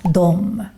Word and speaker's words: de: Also, the word de is normally pronounced as dom.